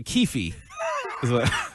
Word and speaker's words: Keefe: It's actually Keefe. is actually how it's pronounced.